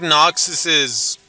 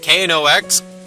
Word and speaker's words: Knox: can always open it so whether you like Knox's rules or not they are very vital to